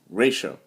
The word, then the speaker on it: ratio: syllables it has and ratio has one two syllables ray and show together goes Ray Show ratio ratio in Spanish it means